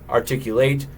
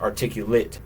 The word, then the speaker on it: articulate: So these are both spelled the same way, articulate, but the other one is pronounced articulate, the adjective. So the verb to articulate and the adjective articulate.